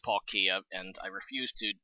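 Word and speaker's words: Palkia: guys know if you ever if you've seen Paul Kaaya um also it a stupid name because it's actually pronounced Paul Kia and I refuse to pronounce it that because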